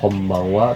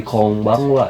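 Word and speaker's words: こんばんは: Ketika dia rata-rata dibilangnya eng, kecuali n ketemu p sama b itu jadi m, kayak kombangwa bukan jadi kongbangwa ya. Yang pertama kom, yang keduanya baeng, nah n kan jadi eng, kombangwa.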